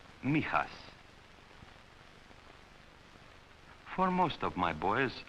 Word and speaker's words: Mijas: It is pronounced Mijas.